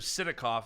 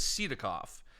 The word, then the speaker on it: Sidakov: You're the only person who instead of Sidakov says Sidakov. And it's probably because that's the proper way to say it in Russia.